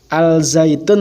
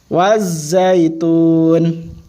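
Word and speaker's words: والزيتون: hakimin Allah hakimin nah ini membacanya Bukan al-zaytun tapi watch zaitun lemnya tidak dibaca nanti dijelaskan di bawahnya wazaitun Nah jadi orang wazaitun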